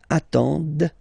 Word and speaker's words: attendent: And the last one, same thing, classic ending for il, elle at the plural form, ENT, but then you don't pronounce them. Ils attendent, okay? So remember, you get to pronounce this, d at the end, okay?